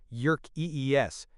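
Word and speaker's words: Yerkes: Researchers Robert Jükis pronounced Jük Ees and John Dodson discovered that the optimal arousal level depends on the complexity and difficulty of the task to be performed.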